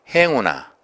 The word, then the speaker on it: 행운: 나왔죠 행복 행복 또 행운아 해온 행운을 빕니다 행복을 됩니다 이것도 행운이라고 해서는 안되고 행복해 행자가 길죠 행복 행운 아 이렇게 발음하는 것이 옳습니다 디제 한자에 소리를 먼저